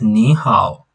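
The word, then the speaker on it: 你好: On hao, it's also a third tone, but it's this second hao is pronounced as a second tone. Remember the rule that we saw in HSK1. When two third tones or falling and rising tones are close to each other or together, one of them is sounded as the second tone.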